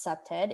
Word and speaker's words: CPTED: explore what that means the acronym cpted pronounced septed is defined as a